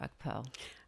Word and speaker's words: Ukpo: Oh, okay, I wasn't pronouncing it correctly. Ukpo? Ukpo. Right. Okay, so I said it completely wrong.